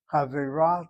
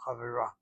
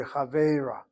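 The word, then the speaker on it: חֲבֵרָה: Chavera, the accent is on the last syllable, chavera. If it were over the tzeri, it would be chavera, but it's chavera.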